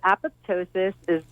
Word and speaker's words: apoptosis: this entourage effect talk a little bit about a pose ptosis is that am I saying it right yes so apoptosis is programmed cell death so it's essentially when